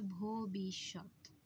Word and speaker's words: ভবিষ্যৎ: তাহলে উচ্চারণটা হবে ভো বিষৎ।